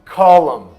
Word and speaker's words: column: E column, coluna, column.